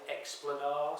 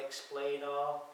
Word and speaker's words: Explanar: Um the whole key for this is be as the name implies explanar. Some people call it explainer and how you pronounce it. So the clue really is in the plane.